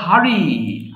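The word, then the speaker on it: hurry: হারি বলছি না কিন্তু হারি র টাকে আমি একটু ঘুরিয়ে বলছি উচ্চারণের সৌন্দর্যের জন্য তাহলে দেখো হারি তাড়াহুড়া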